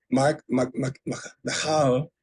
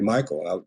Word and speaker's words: Michal: Michal, as they say. Now, when I read it in the Bible, I always said Michael. I mean, it's spelled like Michael, pretty much.